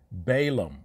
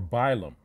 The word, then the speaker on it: Balaam: Balaam or Bilam, same person. They just tried to spell it the way it sounds.